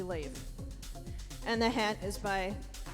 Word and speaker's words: Leif: That is, looks like it's pronounced leaf, but it's actually Leif.